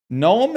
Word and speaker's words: gnome: Gnome and mnemonic have the silent letter at the start.